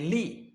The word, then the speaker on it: live: This word, when this word functions as a verb, pronunciation will be live.